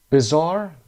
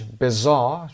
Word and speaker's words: bizarre: bizarre در بریتیش bizarre، چون آر آخر تلفظ نمیشه بعد از صدای آ و گفته میشه bizarre، و امریکن ما میگیم bizarre.